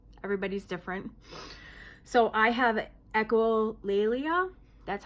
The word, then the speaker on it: echolalia: So I have echolalia.